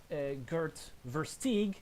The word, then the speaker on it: Gert Versteeg: It's Gert Versteeg, if I'm going to use an Americanized pronunciation, as I tend to like to do.